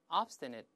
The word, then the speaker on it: obstinate: 牙膛，大声来一遍，obstinate，那个后面 ne。